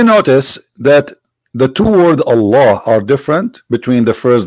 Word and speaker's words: Allah: The first one pronounced as Allah, the second one it says Lillah.